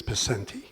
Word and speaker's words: Picente: My name is Picente. There are Picentes out there, and I don't want them offended by your saying it. So it's Picente. You know how to say it. No, you say it Picente. Okay. No, my father said it that way, and I would appreciate if you did the same.